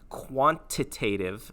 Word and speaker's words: quantitative: quantitative versus qualitative so i'm going to pronounce that a little more clearly quantitative sounds like quantity and that involves numbers